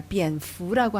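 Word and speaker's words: 蝙蝠: 비엔푸라고 하는데요. 이 fu라는 것이 우리가 말하는 그 복을 빌다 할 때 그 복자하고 발음이 같습니다.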